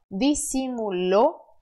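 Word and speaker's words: disimuló: agudo na letra O é instintivo para você brasileiro querer dizer dissimulou porque você tá vendo aí o acento agudo mas no espanhol você ainda assim tem que fechar por mais que ten acento tá então dissimulou suen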